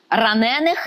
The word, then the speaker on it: ранених: Саме такий первісно був наголос. І не дивуйтеся з того. Тепер форма ранений. Ранених не добивали, а кидали живцем до ями.